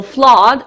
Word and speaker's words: flood: so the flood the flood is an interesting word because it's like blood where you can see double o but you pronounce it like ah so flood is um when it